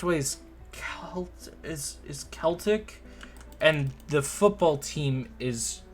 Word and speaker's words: Celtic: help someone with their homework the other day pronounced with a k okay so it's celtic okay that's interesting celtic myths and what was